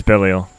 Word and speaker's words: Belial: of fan-favorite movie Ultraman Zero: The Revenge of Belial, which is actually now on Blu-ray. Is it in the Ultraman Zero collection, which I picked up? Is it Belial or Belial? It's Belial.